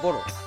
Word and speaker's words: Boro: When Europeans started writing the name, they wrote Boro, but spelled as B-O-D-O. But correct pronunciation would be Boro, like Angboro. You will never say Angboro.